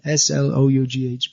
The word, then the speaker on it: slough: The O-U-G-H becomes uff, and then S-L-O-U-G-H becomes slough. It's pronounced differently.